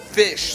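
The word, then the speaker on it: Phish: Kraftwerk, the German band, and Fish, the American jam band. P-H-I-S-H? P-H-I-S-H, like Yeah. the animal fish, but it's spelled differently Yeah, in a very weird way.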